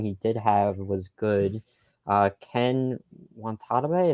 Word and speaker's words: Ken Watanabe: Ken Watanabe, is that how you say it? Ken Watanabe. Oh, okay.